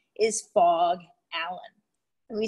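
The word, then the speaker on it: Phog: That is actually a pretty cool person, and his name is Fogg Allen. And we spell that P-H-O-G, Fogg Allen.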